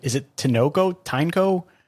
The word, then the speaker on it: Tineco: Tineco? How was it? Yeah, it's Tineco. Yeah, Tineco. Tineco.